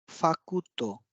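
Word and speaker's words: ファクト: Fact, फाकुतो।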